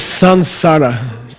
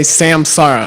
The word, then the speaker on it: samsara: day by the way the correct pronunciation the pronunciation is Sun Sara it's not Sam it's not Sam before and